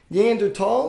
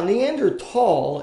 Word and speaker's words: Neanderthal: to be addressed now neander tall is German for neander valley where the first neander tall fossil was found in 1856 now there is no th like th pronunciation in German it is pronounced Neanderthal